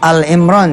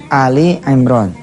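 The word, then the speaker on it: آل عمران: ya Ali Imran 131 Bacanya jangan Al Imran ya tapi Ali Imron J tulisannya itu Ali Imran Ali Imran ini keluarganya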